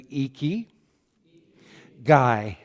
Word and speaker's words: ikigai: so many people have asked us how to pronounce it so let's do eeky guy oh your your Japanese is just great it's